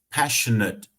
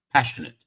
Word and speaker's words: passionate: a position I am passionate about né Passion com D aqui não tá só passionate e aqui não é passionate o a aqui ele não tá sendo pronunciado fortemente ele é Sutil a gente nem vai